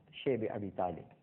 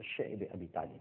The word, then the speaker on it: شعب ابی طالب: اور اس کے بعد شیب ابی طالب، جس کو بعض حضرات شعب ابی طالب بھی کہتے ہیں، لیکن جس کا صحیح تلفظ ہے وہ شعب ابی طالب ہے، ایک گھاٹی تھی، آج